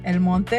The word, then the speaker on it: El Monte: El Monte. I have to say it like that because someone's gonna get pissed.